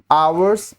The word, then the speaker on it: hour: Next, hours delay, hours delay, hour starts with a silent H and a vowel sound, so article N is used, ठीक है।